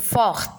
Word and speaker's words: fort: Il est fort, t'es muet.